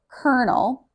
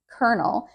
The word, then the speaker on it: colonel: Colonel. Colonel. This one is especially complicated because the L well actually just the whole word doesn't look like how it's pronounced. Colonel. Colonel.